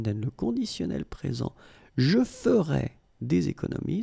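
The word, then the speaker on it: ferais: Je ferai des économies. So you can see that you write them differently, but then phonetically, they are exactly the same.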